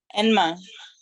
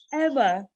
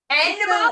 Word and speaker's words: Enma: Enma. Emma. Enma, like E-N-M-N, ma, like two Yep. syllables.